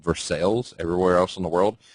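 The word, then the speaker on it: Versailles: from currently I live in local areas called versales everywhere else in the world it's pronounced versa obviously so I do 100% believe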